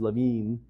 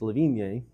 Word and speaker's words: Levine: My last name is Levine. If you pronounce it in French, it's Levigne. Yeah.